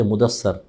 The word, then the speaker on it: مدثر: اگلی سورہ ہے مدثر۔ ہم مدثر اور مدثر بھی نہیں کہتے، مدثر، سا پہ زبر پڑھ دیتے ہیں، مزمل، تو یہ میم